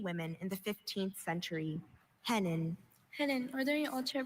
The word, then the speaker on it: hennin: Hennin. Hennin. Are there any alter pronunciations? I have just hennen.